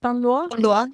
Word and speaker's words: Panlois: There's also another one that looks not far from you, the Chateau de Panlois. Is that how they say it? Panlois, yeah.